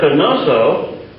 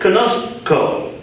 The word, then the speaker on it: conozco: So instead of conoso, which you might think would be the way it would be pronounced, it's conosco. And this is very common